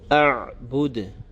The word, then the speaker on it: أَعْبُدُ: And the last word, as we already discussed, the ayn, you have to be careful of the ayn sakin, not to pronounce it too hard, nor to make an extra echoing or qalqala sound. So a'bud.